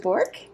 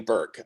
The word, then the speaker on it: Burke: Bork? Hey everyone, it's actually Burke. Everybody pronounces my last name incorrectly, so don't.